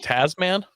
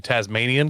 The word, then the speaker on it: Tasman: Is it Tasman? Yeah, because my brain keeps saying Tasmanian because that makes sense as an American, and it's an Australian, but Tasman. Upcoming Tasman pickup truck.